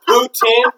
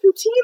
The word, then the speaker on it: poutine: You want to call this fucking poutine?